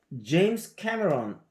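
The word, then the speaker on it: James Cameron: 그 다음에 이제 제임스 캐머런 우리는 이제 제임스 카메론이라고 그러는데 영어로 말할 때 제이도 이게 우리가 트라이가 try 이렇게 발음할 때도 제가 제임스가 아니고 이게 제임스 캐머런 그러니까 앞에 캐가 가니까 항상 뒤가 죽잖아요. 그러니까 제임스 캐머런이죠. 이렇게 발음을 하셔야 되고 그래서 어떻게 보면 스티븐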